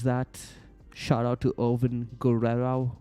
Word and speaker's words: Guerrero: shout out to oven Guerero Guerero Guerero like like Eddie Guerrero is am I pronouncing